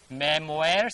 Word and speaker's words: memoir: Memoirs bana siya. We can find here memoirs, but real pronunciation is memoir. R is not sounding here. Yano memoir.